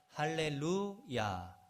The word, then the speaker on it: 할렐루야: 그래서 이 할렐루야, 그 히브리 학자들은 그 발음을 할 때 할렐루야 그러면 히브리 사람들은 루야라는 신을 찬양하라 이렇게 알아들을 수 있대요. 그래서 할렐루야, 루에서 이렇게 좀 한번 쉬어주고 이렇게 인사를 합니다.